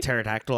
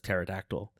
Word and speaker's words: pterodactyl: The the silent pterodactyl. I remember that. I remember anytime somebody says pterodactyl. I bet you do. Cuz the P is silent.